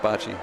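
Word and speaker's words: baci: in the store all that's spelled with an a though isn't it's B ACI but that's how it's pronounced Bachi well for those of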